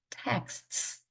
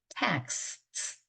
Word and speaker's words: texts: texts 이 다음에 이는 모음이죠. 그 다음에 x는요. 크스로 발음합니다. 크스 texts. 그래서 텍스트에다가 s까지 붙어서 texts. 그다음에 sixth.